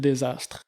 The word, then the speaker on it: Dsastr: sur comment qui s'appelle ton contre euh fil desastre fil desastre puis desastre ça s'écrit d S a S t a d